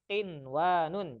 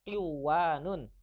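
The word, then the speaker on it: قنوان: Ada 4 kata yang pengecualian yaitu qinwanun. Jadi gak dibaca qiwanun. Gak juga dibaca siwanun atau buyanun. Nah, tetapi ini dibacanya jelas. Mana contohnya? Oh, gak ada contohnya. Jadi gitu dibacanya qinwanun.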